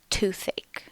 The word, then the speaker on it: toothache: Notice that in these words, the stress is on the first syllable. Earache, stomach ache, toothache.